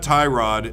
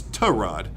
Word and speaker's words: Tyrod: whole time but yeah it's not Tyrod it's to rod and so in the preseason game they pronounced his name is Tehran in the in the